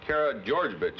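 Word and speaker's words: Karageorgevich: is your preference your last name is uh Cara georgevich isn't it some like that that's right very difficult to pronounce yes it is is that the way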